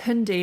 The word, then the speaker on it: Hyundai: yeah hyai Tucson and is that how pronounced Hyundai cuz the new advert is hundy isn't it hundy yeah